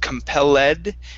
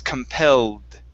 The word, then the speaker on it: compelled: Now this is an ed ending. The e does not sound. So instead of compelled, it's compelled. Compelled. Okay, give me a d sound instead of a t.